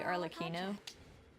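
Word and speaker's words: Arlecchino: I've been having a lot of fun with Arlino, which I'm now only I keep saying Arlacino because, you know, there's an H there, but it's really Arlino.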